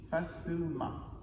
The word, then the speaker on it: facilement: faire notre adverbe facile on met le Main facilement facilement et on ne prononce pas le fixe facilement même chose avec